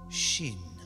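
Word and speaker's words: ש: to figure things out shin Shin is pronounced as sh OS and its closest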